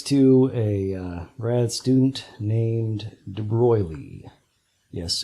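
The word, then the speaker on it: de Broglie: a grad student named debroglie yes a foreigner hence the funny pronunciation of his name Roy Lee he said look we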